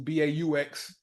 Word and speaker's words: Baux: Transitioned over to the music, I turned it to BAUX, ox chord, and then just add the B in front of it, just a play off of the way you spell it. Most people, they see it and they think it's Beau because that is how you would say Beau in French, but it's just a wordplay thing for me.